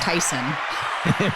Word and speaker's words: Tison: the show Tyson I do hope it's pronounced Tyson yes it is I didn't even ask you